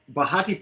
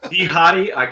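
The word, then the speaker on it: Behati: adam levine and uh bahati pinslow uh that's that's uh that's his wife correct yeah she's a former victoria's secret model am i pronouncing that correctly uh no hottie so yeah the lifestyle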